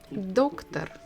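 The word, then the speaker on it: доктор: medical field is doctor doctor so we stress the first syllable or doctor so we can guess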